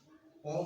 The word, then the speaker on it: ओम: सबसे पहले ओम उच्चारण का करेंगे तो आप ओ का जो उच्चारण होता है उसमें ओष्ठ खुला रहता है, और जब माँ का उच्चारण आता है तो हम ओष्ठ को बंद करके अपने कान के द्वारा आवाज को बाहर निकालते हैं, और इस तरह से